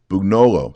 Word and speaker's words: Bugnolo: I did see that Brother Bugnolo, is that how you say his name? Yes. Bugnolo.